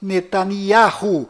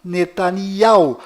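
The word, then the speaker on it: Netanyahu: bom Voltando ao assunto fora de Israel o nome deste primeiro ministro é pronunciado Benjamim netan mas dentro de Israel o nome dele é pronunciado benam netania confira fora dentro fora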